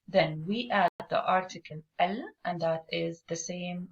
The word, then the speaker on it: ال: It is pronounced as al, and it is written phonetically as al, or in Ammiya or colloquial, some people write it as el or pronounce it as el, but spelling wise it's the same.